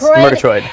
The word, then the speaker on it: Murgatroyd: Murgatroyd? Yes, Murgatroyd.